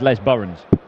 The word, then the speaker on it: Les Bourrons: Les Bourrons. It's not, it's Les Burrons. Fishing lake. You might pronounce it Le Buron. I don't think it is.